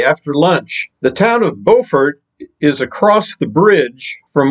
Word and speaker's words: Beaufort: The one in North Carolina is pronounced Beaufort, as in bow and arrow. The one in South Carolina is pronounced Beaufort. In Morehead City, I met up with my new friends, Tommy and Les.